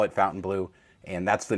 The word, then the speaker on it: Fontainebleau: and they call it Fontainebleau, and that's the name of the hotel. So I know the spelling is weird, or, it's the French spelling, but it is pronounced like English, Fontainebleau, and we are doing it right.